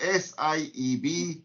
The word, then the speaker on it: Sieb: It's spelled S-I-E-B, but it is pronounced Sieb.